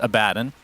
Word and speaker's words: Abaddon: pronunciation first of all I understand that the correct pronunciation is abaddin okay but that didn't come to light until a few years like after Dota 2 came out okay okay so